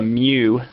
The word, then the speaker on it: mu: symbol that's called a mu symbol. It's like spelled M-U if you're going to spell it. Mu, the Greek letter mu, stands for micrometer, and that's 1/1,000,000th of the basic unit.